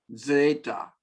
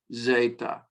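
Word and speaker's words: ζῆτα: Alpha, alpha, beta, beta, gamma, gamma, delta, delta, epsilon, epsilon, zeta, zeta, or zeta, either one. Zeta, I'm giving a little DZ, DZ, D with a Z, or simply Z, zeta, zeta. It's a soft Z.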